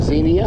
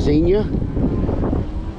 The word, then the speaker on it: Xenia: I'm at now a little town called Xenia Xenia is how it's pronounced a lot of people like to call it Xenia but it's Xenia and up here is one of the hubs